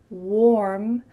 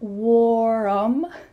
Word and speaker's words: warm: Instead, the word warm has just one syllable, not warm. Instead, warm. Warm. Notice how my lips are in an O shape. Warm. Warm with a clear R.